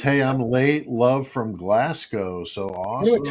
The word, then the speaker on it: Glasgow: But it's not Glascow, it's Glasgow. Like Moscow, right? Like Moscow.